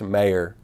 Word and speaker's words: Mayer: He said, it's actually pronounced Mayer, and it's not Moyer.